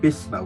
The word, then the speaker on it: Vishva: One major one, the Sora called Bhisma, which is their way of pronouncing Vishva, the first word of